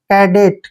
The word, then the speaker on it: cadet: देखिए सी के बाद जब भी ए आता है तो सी का उच्चारण हम कै करते हैं, ठीक है, और ए को ए की मात्रा पढ़ेंगे और डी का उच्चारण डे करेंगे और ई को ए की मात्रा पढ़ना है, टी को टे पढ़ते हैं।